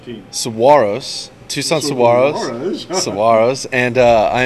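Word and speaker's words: Saguaros: Tucson player coach Robbie Medell comments on the importance of every game that remains after correcting this video journalist's pronunciation of Tucson's team name. Saguaro's.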